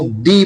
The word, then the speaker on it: the: है यू दी university तो अगर किसी भी नाउन से पहले टी एच ई हो और वो नाउन ए इ आई ओ यू से स्टार्ट हो रहा हो तो हम उसको दी प्रोनाउंस करेंगे।